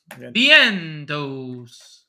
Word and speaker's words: Vientos: Okay, and then Ventios is min price again. Yep. I'm only because of salary, not because of the matchup. Is it, how do you say it? Ventios? Vientos? Vientos.